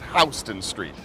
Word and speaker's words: Houston Street: And though it's spelt the same way as the big city in Texas, Houston, it is Houston Street.